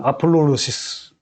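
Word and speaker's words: ἀπολύτρωσις: 이 언어의 뜻이 뭐냐면 일단 발음은 아폴로로시스 그러는 거예요.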